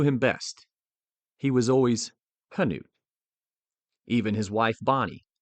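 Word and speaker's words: Knute: However, as his fame grew into the 1920s, the American tendency to simplify foreign pronunciations took hold and the silent K became increasingly common.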